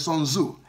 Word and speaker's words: Sun Tzu: I'm not pronouncing the surname well. It's TZU, but it's Sun Tzu.